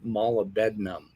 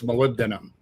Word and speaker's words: molybdenum: college would know that it's not malabednam and he does it shamelessly twice now maybe i don't know my son says well you know maybe he has trouble pronouncing words but you know i don't know it's just me but but if you've taken a chemistry course you know it's molybdenum it's not it's not